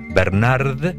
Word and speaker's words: Bernard: Bernard, como Bernardo, sin la O, Pivot.